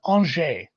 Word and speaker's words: Angers: And as Dan pointed out, yes, it's a French word, so it's pronounced silly, and it is. I've actually heard this one before. I'm not sure I'd have done a great job without him writing the phonetic spelling, but it is Angers. Because why the fuck not? You just don't pronounce consonants in French.